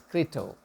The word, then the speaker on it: Crito: And we have that beautiful book, Kritos, it's pronounced as Crito, by Plato, which captures the last day in the life of Socrates.